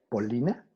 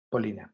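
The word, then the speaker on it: Полина: ¿Tu nombre se pronuncia Polina? Sí, Paulina. Polina, gracias.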